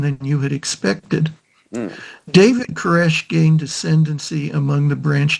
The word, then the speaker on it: Koresh: take his name and in Hebrew Cyrus is pronounced koresh second that the newly